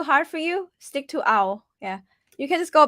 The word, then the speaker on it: เอา: for you stick to ow yeah you can just go back and say ow that's my tone easy it's actually a and then ooh at the end like your mouth is rounded even though it's ao